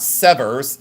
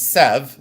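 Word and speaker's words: Sèvres: Uh and it's not Severs, it's Sev. That's the way you pronounce it.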